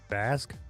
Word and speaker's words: Vasc: It's Vasque. Vasque. Yeah, I said Basque.